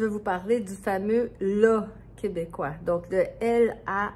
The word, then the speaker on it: là: Parce que c'est un son étrange qui est entre le A, le A et le A. Donc, ma prononciation pour la, c'est la, la, la. Donc, la bouche est plus ouverte que pour un O ou un A, mais c'est pas un A.